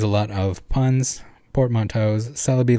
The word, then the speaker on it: Celebi: lot of puns portmanteaus celebi like celery rangaroo like orangutang plus